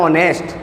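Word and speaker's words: honest: इसे नेस्ट नहीं पढ़ेंगे को पढ़ने का सही तरीका होता है ऑनेस्ट क्या पढ़ते हैं इसे ने एच साइलेंट रहता है एच साइलेंट रहता है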